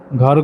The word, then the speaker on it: घर: अ का उच्चारण भी आता है। अगर हिंदी में बोलते हैं तो घर। अ जो है बहुत मतलब पता नहीं चल पाता है, पर जब मैथिली में बोलते हैं तो घर, घर।